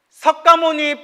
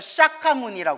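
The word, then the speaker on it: Śākyamuni: 계실 때 우리가 이제 석가모니 부처님을 석가모니 부처님 할때 석가모니가 산스크리트어를 샤카무니 한다고 했어 뭐라고 한다 샤카무니 샤카무니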